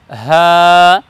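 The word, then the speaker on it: ح: বর্ণকে আমরা উচ্চারণ করব হা হলকের শুরু থেকে উচ্চারণ করব হা যেমন আমরা মানুষের নাম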